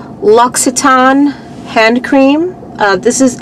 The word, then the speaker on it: Louis Vuitton: finally learned how to pronounce this this is pronounced luiton hand cream uh this is either a sample